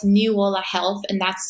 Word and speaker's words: NiuOla: Medicine um now it's newa health and that's spelled NIU new like the young coconut and hola o l a um so this